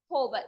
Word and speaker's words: hover: of pseudo class is H not over it is hover H is silent there it is called as